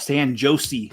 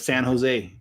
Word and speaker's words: San Jose: And it used to crack me up because they also call it San Jose instead of San Jose.